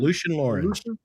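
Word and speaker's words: Lucien Laurin: Lucian Lauren. Is that how you say it? Lucian Lauren. Lucian Lauren.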